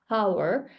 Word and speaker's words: power: accent, Japanese accent before, I used to pronounce weak consonants. Like when I wanted to say power, I say power now. But then before, I used to say power, power. It was really quiet. Power, power, power. And now I pronounce it as power because English needs more consonants.